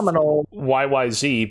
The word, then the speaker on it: YYZ: Yeah, we actually called ourselves YYZ because it rhymes with AOC.